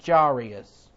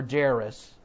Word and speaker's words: Jairus: As he was saying these things, the ruler, now this ruler is of the synagogue of Capernaum named Jairus, or Jairus, however you want to pronounce it, J-A-I-R-U-S.